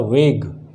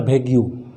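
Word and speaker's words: vague: इसको कहते हैं वेग, इट्स नॉट भेग्यू, वेग। वेग क्या है प्रोनाउंसिएशन? वेग, भेग नहीं है, वेग।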